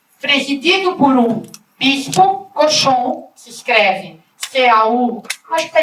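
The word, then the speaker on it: Cauchon: E, presidido por um bispo, Cochon, se escreve C-A-U, acho que está escrito em algum lugar.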